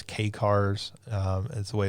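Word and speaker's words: kei car: of I don't know the correct way to pronounce it. Key cars. The little small Japanese cars. Um it's K cars.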